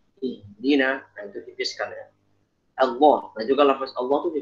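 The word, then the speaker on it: الله: Tapi kalau untuk mengucapkan lafaz Allah dalam Al-Qur'an bacanya yang benar. Allah. Jangan Allah. Semuanya tebal semua, jangan. Jadi alifnya mesti ditipiskan, ditarkikan.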